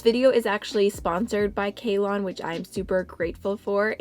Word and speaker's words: Kalon: It says Kalon. It's pronounced Kalon Cosmetics. Kalon. My sincerest apologies. I've been saying it wrong this whole time.